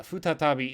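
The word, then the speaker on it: 再び: sarainen is two years from now but uh futa tabi is how it's pronounced here for again once more or a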